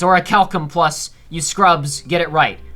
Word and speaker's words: Orichalcum: Anyway, I've been informed many times by the internet that it is Orichalcum Plus. It's like a Greek K, like Kerberos. It's Orichalcum Plus.